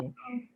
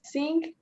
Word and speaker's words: seeing: Seeing. Saying. Saying? Like that? Saying. No. How See, pronounce seeing? Seeing. seeing. But it See. sounds like sing. No, seeing. Seeing. Not sing.